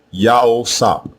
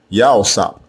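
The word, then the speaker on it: יוסף: Again, both versions are pronounced the same way, Yao-sap, Yao-sap, and it means Yahweh added.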